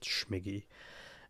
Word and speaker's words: Scmig: through the Atelier and his name Rhymes at smiggy and so like obviously smiggy rhymes with the figgy and so figgy even